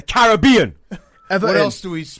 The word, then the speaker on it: Caribbean: And then you pronounce everything wrong, like the Caribbean. It's the Caribbean.